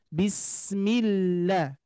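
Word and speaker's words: بِسْمِ اللّٰهِ: Sin mengalir Bismi ya terus berikutnya DII ke Allah itu jangan sampai terlalu kepanjangan jadi harus langsung bismillah bismillah tipis ya millahillah hillmanirahim himim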